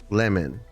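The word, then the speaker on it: Lemuen: Lemon. It's lemon. Why don't they just spell it that way, man?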